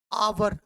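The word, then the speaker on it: hour: अब देखिए आवर, this is noun, अगर मैं इसका उच्चारण करता हूं, एच इज साइलेंट, एच का उच्चारण यहाँ पे नहीं हो रहा है, वो यू आर का हो रहा है।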